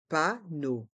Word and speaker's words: panneau: d'information le panneau d'information les voyelles e a u dans le mot panneau se prononcent o comme la lettre O panneau et dans le mot